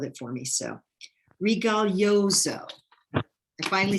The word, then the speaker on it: Rigoglioso: So, Rigoglioso.